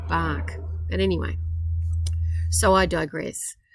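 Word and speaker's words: Bach: in the other series dr edward batch at the turn of the century or his name's prin appropriately pronounced dr edward bark but anyway so i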